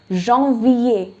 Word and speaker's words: janvier: January is janvier.